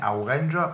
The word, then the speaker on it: Orange: Oui, alors ça se prononce Orange, et en fait il faut savoir qu'il y a quelques années il y a eu une polémique sur la graphie provençale ou occitane du nom avec un A à la fin, Orange, ou un O à la fin, Orange. Vous voyez, on prononce pareil, mais on n'écrit pas de la même façon.